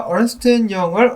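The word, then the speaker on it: Ernst & Young: 자, 아무튼 그런 소식들이 나왔었고, 그리고 넘어가기 전에 어제 영상에서 제가 얼스트 영을 얼네스트 영이라고 했다고 잘못 발음했다라고, 잘못 이야기했다라고 지적이 또 들어왔었는데, 그 부분 제가 잘못 보고 잘못 발음을 한 것이 맞습니다.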